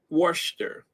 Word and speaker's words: Worcester: oh really you used to work there it's pronounced Worcester Worcester Worcester Worcester Massachusetts okay thank you so much for